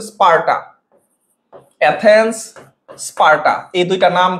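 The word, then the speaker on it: স্পার্টা: তাহলে এই যে এথেন্স এই যে স্পারটা স্পারটা এটার উচ্চারণটা হচ্ছে স্পারটা এথেন্স স্পারটা এই দুইটা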